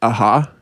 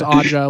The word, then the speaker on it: Aja: As a kid, I always thought you were supposed to pronounce it aha. I don't know why. I thought it was Aja when I was a Aja, kid. yeah. I thought like the J, you're supposed to make an H sound with it or something.